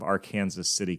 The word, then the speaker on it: Arkansas City: My wife and I have been hanging out at Camp Quaker Haven south of Arkansas City, Kansas. Yes, that's the proper way to pronounce it around here.